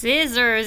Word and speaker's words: scissors: What is silent in scent and science and scissors? Yeah, you don't hear the C. Yeah, all you hear is the S. So sometimes when you have SC together, not all the time, but sometimes you're gonna only hear the S.